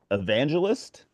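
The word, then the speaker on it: Aevangelist: uh band is called evangelist okay uh but it's spelled AE it's well the word evangelist with an a in front of it so um this is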